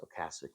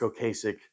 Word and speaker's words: Ocasek: The Rick Ocasek, I know it's pronounced Ocasek, but I would say Rick Ocasek joked that this should have just been called The Cars' Greatest Hits, but this is The Cars, right?